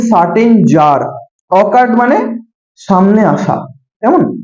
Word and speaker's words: tsar: ঠিক আছে, TSAR, জার। ঠিক আছে, টি এর উচ্চারণটা সাইলেন্ট, বুঝা গেল?